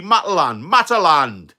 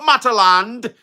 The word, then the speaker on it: Matalan: That's like calling bloody Mataland. Not Mataland, it's Matalan. You know what I mean?